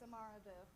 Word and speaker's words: Amar: up is uh Amar EGU I'm sorry if I mispronounced your name it's okay it's Amar Amar thank you good evening